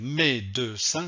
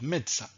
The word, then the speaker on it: médecin: je ne vais pas dire à deux mains non je vais dire à demain et je ne vais pas dire mes deux seins non je vais dire médecin donc la règle ici